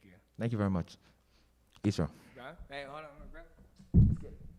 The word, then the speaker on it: IsReal: So as I said, my name's IsReal, pronounced IsReal, IsReal, because that's what I am.